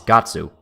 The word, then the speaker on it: Guts: The Japanese name for Guts is Gatsu, but that's not how you say his name in English.